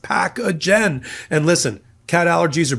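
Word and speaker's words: Pacagen: That's P A C A G- N pronounced packagen.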